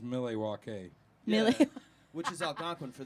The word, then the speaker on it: Milwaukee: And I was like, dude, this guy's put out like 3 more records since I It's actually pronounced Milwaukee.